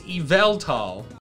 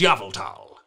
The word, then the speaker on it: Yveltal: It says that this Pokemon's pronunciation is Yveltal. Come on, fam. We all know that it's Yveltal.